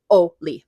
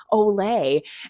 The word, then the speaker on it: Ole: And it looks like Ole, but it's Oli.